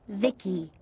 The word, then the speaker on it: V.I.C.I: By the way, I'm V.I.C.I, pronounced Vicky.